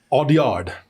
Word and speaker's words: Audiard: Audiard, I believe is how you say it.